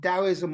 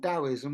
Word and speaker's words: Taoism: Uh, as I said, is it Taoism or Taoism? Well, both ways are correct. In some writings, it will be written Taoism. In other writings, it will be presented as Taoism with a T.